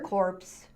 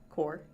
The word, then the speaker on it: Corps: After four years in the US Army Medical Service or corpse core, the s is silent.